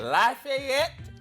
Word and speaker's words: Lafayette: Lafayette, Louisiana.